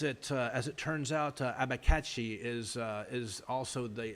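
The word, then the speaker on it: abacaxi: with abachaxi yes those are apistograma actually it's pronounced apistograma abba kakshi abikachi there we go apistograma abikachi i actually had to look that one up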